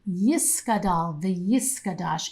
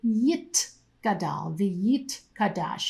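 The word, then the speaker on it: יתגדל ויתקדש: Now that pronunciation, Yiskadal v'yiskadash, is an old-fashioned pronunciation of Hebrew. A modern-day Hebrew speaker would say Yit Gadal v'yit kadash. You can hear that there's a t sound instead of a s sound.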